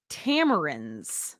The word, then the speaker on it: tamarin: has some babies to celebrate Three cotton toop Tamarind did I say it right Ethan yes okay